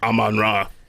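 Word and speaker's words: Amon-Ra: I'm on raw.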